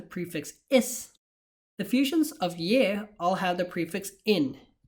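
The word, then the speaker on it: यह: though they're spelled differently, yaha and ye are still pronounced as ye, and vaha and ve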